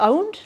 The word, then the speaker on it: pwned: I did do you say the owned or do you say pwned? But he says pwned, so now I will say pwned.